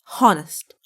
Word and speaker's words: honest: Honest. Honest. No, it's not like that. It's honest. H is silent.